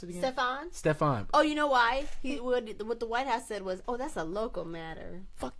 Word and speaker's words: Stephon: How do you pronounce it again? Stephon.